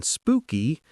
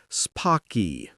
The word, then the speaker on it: spooky: The double O in spooky sounds like ooh in moon. So, we say spooky, not spocky.